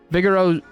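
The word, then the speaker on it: Vigero: Vigoro, I actually said it right.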